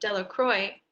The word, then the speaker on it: Delacroix: Bobby and Harry Jones and Dickie Delacroix, the villagers pronounced his name Delacroix, eventually made a great pile of stones in